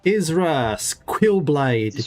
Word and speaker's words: Israelblade: Israelblade. Just like the surname.